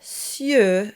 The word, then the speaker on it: cieux: And for the plural, you get cieux, so it has the œ sound at the end. And that is very forward and rounded.